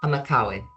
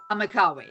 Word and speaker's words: Amakawe: Amakwawe, or how do you pronounce it? Amakawe. Amakawe.